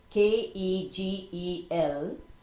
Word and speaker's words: Kegel: heard of they're called Kegel exercises spelled k-e-g-e-l but it's pronounced as if it's k-a-y-g-e-l Kegel exercises I think